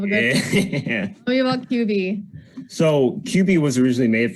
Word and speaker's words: Qbi: So we got, is it Quibi? QB. Okay.